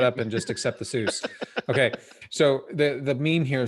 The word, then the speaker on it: Seuss: Seuss was not pronounced, the name Seuss is not pronounced Seuss. I was told this. I don't know this definitively, but I was told this by a friend that Seuss was actually pronounced as Soyce.